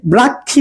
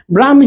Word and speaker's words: ব্রাহ্মী: লিপি থেকে ঠিক আছে অনেকে ব্রাক্ষী উচ্চারণ করেন কিন্তু এটা হবে ব্রাহ্মী লিপি ঠিক আছে তো আমাদের